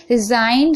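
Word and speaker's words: resign: रिजाइन, रिजाइन में भी आप देख रहे हैं, यहाँ पर देखिए एन से पहले जी है तो जी साइलेंट है।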